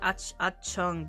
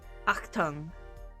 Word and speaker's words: Achtung: I guess I pronounced it like Achung, but like it's like Achtung. like a guttural sound in the back of the throat, like an ach. Ach tongue. Something like that.